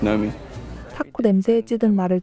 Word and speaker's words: Naomi: It's spelled Naomi, but pronounced Nomi.